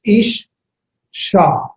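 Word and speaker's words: אִשָּׁה: Notice that the shabbat for isha has a dogish forte in it. It's a doubling. It's ish sha. Ish sha. The aleph has no pronunciation. So you just have the here vowel, E, with the shwa and the shin. Ish, sha.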